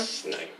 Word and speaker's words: Snape: Snape. Yes. Severus Snape. Snape. My bad. Snape. Severus Snape. Snape. Yay! Severus Oh, yeah. Snape.